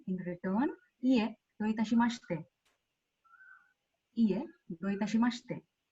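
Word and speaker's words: どういたしまして: in return, ie do itashimashite. Ie do itashimashite. It will not be mashite, it will be mashite.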